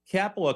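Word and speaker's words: Kapala: charge of the storm capola could be finished k-a-p-a-l-a it looks like uh it would rhyme with Rapala r-a-p-a-l-a which is of course the company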